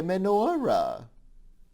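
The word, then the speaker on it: מנורה: There are lots of Hebrew words that we use in Yiddish, but we pronounce them with an Ashkenazi dialect. So this would be called die Menorah, plural die Menorahs.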